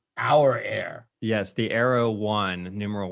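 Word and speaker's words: Aura Air: and they put that in the release it's pronounced out not your air our air yes the arrow one numeral one and uh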